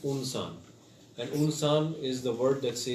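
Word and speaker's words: إنسان: We start the premise should be pronounced Unsan.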